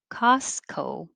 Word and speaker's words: Costco: made me think of costco so it's not costco or costco it's ca costco costco i don't really say that t at all just costco if you